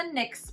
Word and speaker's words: Knix: we prefer we prefer the nyx brand cute little x there that's their logo and it's spelled knix we will link them